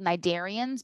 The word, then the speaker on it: cnidarians: to see some of it and they're called nidarians because remember how that word and i said